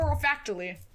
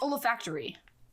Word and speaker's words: olfactory: Or oralfactually.